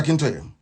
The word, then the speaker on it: Akintoye: I want to pronounce it correct. Professor Akintoye.